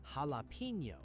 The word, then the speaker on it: jalapeño: In English, people say "halapeno". This is wrong. The letter J in Spanish always sounds like the English H.